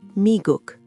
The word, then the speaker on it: 미국: The United States is 미국, pronounced 미국.